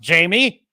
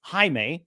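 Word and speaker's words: Jaime: the scene she's going to say oh it's pronounced Jamie and then he says no it's Hae for the second time and she says okay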